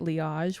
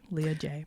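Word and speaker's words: Liaj: L I A J Leah J yeah it was so funny because it was meant to uh be pronounced as leage Salon which is my first name and my last name initial but then people couldn't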